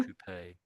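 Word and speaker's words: coupé: coupe. I prefer French pronunciation.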